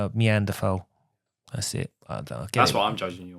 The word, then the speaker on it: Neanderthal: We normally go to the office and have a poo in the toilet like normal people, not Neanderthals like you.